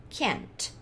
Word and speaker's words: can't: Mas eu falei que esse T a gente vai fingir que vai falar, mas não vai falar. Então, o que vai acontecer? Eu vou pronunciar ele normal e aí eu não vou soltar o T.